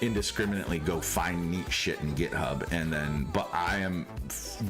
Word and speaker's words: GitHub: Like, you can go to GiftHub and find these or is it GitHub? Thank you. Now, nobody told me. Okay, we Okay, so GitHub.